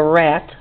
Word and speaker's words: Rat: It's by somebody named Jessica Rat. R-A-T, rat, it's pronounced in French.